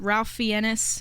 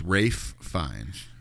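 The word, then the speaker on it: Ralph Fiennes: most people but it's Rafe fines why is there an L there it's it's spelled like Ralph but it's pronounced Rafe and uh him and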